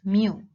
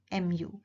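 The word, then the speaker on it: μ: size so this is your population mean we pronounce it as mu mu X bar here refers to our sample mean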